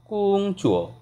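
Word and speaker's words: 工作: যেমন আমি এভাবে বলতেছি কুং চুয়ো, অর্থাৎ আমাকে এখানে টানতে হবে কুং, দেন এটাকে ফোর টোনে বলতে হবে চুয়ো, কুং চুয়ো অর্থাৎ কাজ।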